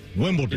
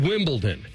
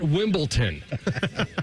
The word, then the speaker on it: Wimbledon: Wimbledon. It's called Wimbledon, not Wimbledon. There's not a T in it.